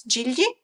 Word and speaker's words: Gigli: I know the name in Italian, it's Gigli. Which is a very difficult name to pronounce for anyone who's not Italian, because my husband can never pronounce the GL in the Italian way together.